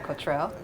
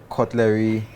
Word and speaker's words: Kotrell: hi cultural how are you hello am I pronouncing it right Cottrell cultural perfect okay so where did that name